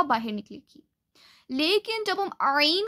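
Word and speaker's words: ع: It is pronounced from the center of the throat, but the wind does not come out of your mouth.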